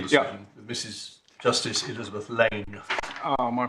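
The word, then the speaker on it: Laing: Justice Elizabeth Lane. Oh, my pronunciation. Sorry. Let's get these things right about one's colleagues. No, yeah, absolutely. That's in fact why she is Elizabeth Lane rather than Lang, because there was too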